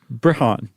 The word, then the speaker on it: Brehon: Brehon. Okay. Brehon. Is that what you're going to go with? Yeah, it rhymes with Breton.